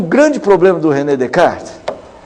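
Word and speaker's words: Descartes: da proposta de Renê Decart. É isso, né? Descart, Descart, mas com o S não pronuncia.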